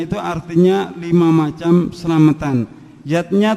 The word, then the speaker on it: yajna: artinya lima macam selamatan yatnya tulisannya yajna Ayah Bunda tapi membacanya yatnya yang pertama adalah dewayatnya